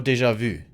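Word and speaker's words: déjà vu: say deja vu or deja vu because one is the english pronunciation because i'm casting in english but i guess the proper way to say it in french is deja vu right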